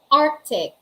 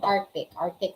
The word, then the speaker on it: Arctic: yun yung tinatawag nating Arctic Ocean, di ba? Somewhere in the north natin siya matatagpuan. And etong Arctic, medyo kasi hindi na po pronounce yung C sa Arctic.